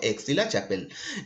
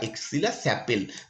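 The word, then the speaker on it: Aix-la-Chapelle: সেই সন্ধিটা খুব ইম্পর্টেন্ট সন্ধি, যেটা হচ্ছে ট্রিটি অফ এক্সিলা চ্যাপেল বা এক্সিলা স্যাপেল, দুটো নামই বলা হয়। যেহেতু ফরাসি উচ্চারণ, সেটাই ব্রিটিশ মানে মানে ইংরেজিতে উচ্চারণ কিছুটা অন্যরকম হবে।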